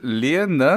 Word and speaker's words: Selene: But in the other countries, oddly enough, tell them my name and they pronounce it correctly. As an Which is Afrikaner, it's Selene.